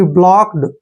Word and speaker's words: blocked: Next word देखिए, BLOCKED। देखिए बी को हम क्या पढ़ते हैं, ब, और एल का उच्चारण ले करते हैं, ओ को ओ की मात्रा पढ़ते हैं ऐसे, और सी के को हम कै पढ़ते हैं और ED का उच्चारण यहाँ पर डे करेंगे, यानी कि ब्लॉक्ड।